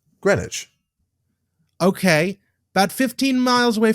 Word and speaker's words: Greenwich: the way it's it's spelled in america i pronounced it in america i'm sorry it's it's greenwich also i'm also really mad about this because